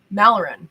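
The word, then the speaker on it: Malrin: Steve says, golden Malaran. That's how you say it.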